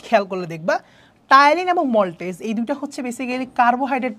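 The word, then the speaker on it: maltase: আসো তারপরে এটা হচ্ছে মল্টেজ মল্টেজ ঠিক আছে ইংলিশে হবে এরকম বানানটা মেলটেজ যদিও উচ্চারণটা হচ্ছে মল্টেজ ঠিক আছে তাহলে আমাদের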